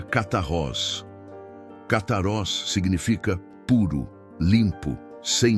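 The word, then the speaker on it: καθαρός: Para entendermos a natureza desta pureza, podemos olhar para a palavra grega que Jesus usa para limpos, que é cataros, se pronuncia catarroz.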